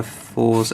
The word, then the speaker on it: Fourze: wave with um in number two it's uh fours and uh that's how you pronounce the name this picture of them at